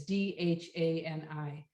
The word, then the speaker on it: Dhani: And then George married Olivia in 1978, and they have one child, Danny Harrison, Donnie, I'm not sure how you say it. It's Dhani, and he's a musician too.